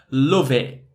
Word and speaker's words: love it: love it and yeah there's no T sound it's that glottal T and mixing those two